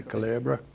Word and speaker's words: Culebra: Experimental electronic music group Red Culebra, which means snake, I believe, in Spanish. Did I pronounce that correctly? Culebra? That's good.